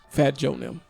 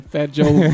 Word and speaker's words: Fat Joe: if anybody gets left out it might be fat Joon I mean fat Joon Fat Joe Remy M you said it right right French